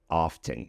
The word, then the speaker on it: often: Okay, our next word is actually a little bit extra because it is not wrong to pronounce it often.